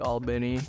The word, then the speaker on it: Albany: I'm from Albany, Georgia, or like Albany. That's how you say it if you're from Albany, I guess.